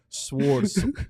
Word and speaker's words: sword: Sword. Are you pronounce the W in sword? No, Sword.